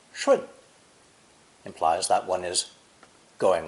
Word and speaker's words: 顺: A person kneeling next to flowing water, pronounced 顺, implies that one is going with the flow, complying with the rules, being obedient.